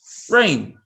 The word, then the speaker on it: rain: You want the child to know that A and I, when they see that combination, is always A. So pretty much the I is silent, so it gets the long sound, A. So it's A, rain.